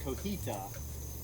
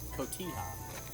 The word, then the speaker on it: cotija: little bite on there not to be confused with cohita which i think is the way we always pronounce it but it's cotija it's called i'm gonna just finely